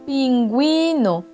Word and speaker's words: pingüino: En espagnol, cette lettre sert à souligner le U qui se trouve entre un G, entre le E et entre le I. Exemple, ungüento, pingüino.